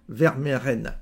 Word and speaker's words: Vermeren: notre ami Pierre vert attention hein pierre vermeren voilà ça se prononce comme ça donc finalement comme